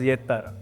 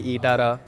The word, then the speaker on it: Ettarra: It's pronounced as Yettara. And what are the versions that you've heard? We heard Ettara, we heard Ittara, Juttara, Juttara.